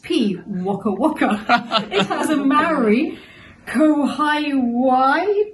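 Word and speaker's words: pīwakawaka: this bird is P oh pronounced P waa Waka it has a marry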